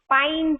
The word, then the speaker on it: pine: This tree's name is pine tree, in which again we hear a long I sound, and we do not hear the E sound in this pine word.